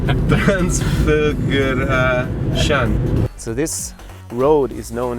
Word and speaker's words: Transfăgărășan: Transfăgărășan.